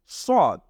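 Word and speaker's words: ص: আমরা একটু কয়েকবার পড়ি এটা হলো সদ একটু মোটা হবে সদ আমরা অনেক সময় এই সদের সাথে সিনের একটা মিয়ে থাকি সদকে সিনের মত করে উচ্চারণ করে ফেলি এটা আমাদেরকে মনে রাখতে হবে যে সিন হলো চিকুন আর সদ হলো মোটা এটাকে বলা হয় সদ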